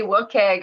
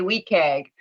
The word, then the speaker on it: WCAG: And I think one of the lines is there's, you say WCAG, I say WCAG.